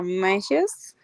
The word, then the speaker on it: massage: If you have backache, should have a massage. Ah, okay, let me tell you the pronunciation for this.